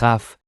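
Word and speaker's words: כ: Of course, the Bet becomes Vet, the Kaf becomes Chaf, and the Peh becomes Fe.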